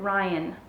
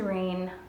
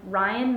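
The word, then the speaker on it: Raihn: I looked up the pronunciation and it said Ryan. I thought it was Rain. I don't know, I'm confused with the pronunciation of his name, but I'm gonna go by what Google said, and it was Ryan, is dangerous.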